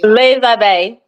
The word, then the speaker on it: Les Abeilles: I told you I looked it up and everything, but the pronunciation, it wasn't coming out. Say it one more time. A belay. Les Abeilles.